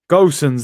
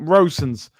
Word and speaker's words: Gosens: Is it Rosen? Am I saying his name wrong? Let me check, man. You lot are confusing me now. Gosens, there you go. That's Broads, look, putting up Rosens.